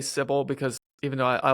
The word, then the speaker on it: Cybele: the cult of and if you look at it in English, it looks like Sybil, but in Greek it's Kubale, which I think is a lot cooler of a name.